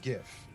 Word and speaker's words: GIF: to English yes and it's GIF it stands for gra it is it is GIF it is not peanut butter I don't care what the creator of it say is spelled with a J as God not J intended uh it's also an